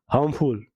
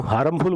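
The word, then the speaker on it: harmful: हार्मफुल, इसको हम हार्मफुल बोलते हैं, ये हार्मफुल होता है, ठीक है? तो आर है इसमें, क्या है? साइलेंट है।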